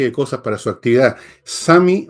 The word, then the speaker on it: Sumi: Sami o Sumi, se escribe Sumi, yo voy a decir Sami, pero en el fondo es Sumi, digámoslo en castellano.